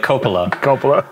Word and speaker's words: Coppola: yeah well i mean i heard him say his name and he says it like that like coppola francis ford coppola something like that i